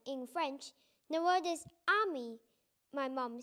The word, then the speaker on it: ami: you say friend in french the word is ami my mom says you're saying like this ami i'm not french everything that night i tell